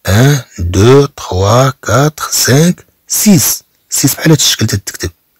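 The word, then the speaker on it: six: أسي أسي هاد إكس ما تتنطقش، متى تكون مراها كلمة أخرى. أنا أقول هنا سيس، طبعا هي في الحقيقة سيكس، ولكن تتقرا في اللغة الفرنسية سيس إلا كانت بوحدها ككلمة.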